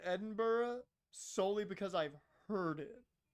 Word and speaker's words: Edinburgh: No, nobody pronounces Edinburgh like he did. I pronounce it Edinburgh solely because I've heard it too much because Joe Hendry a bunch of people.